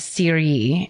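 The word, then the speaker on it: Cheiry: The next day, or it's the same, it's October 5th in, the Swiss village of Syrie is how it's pronounced.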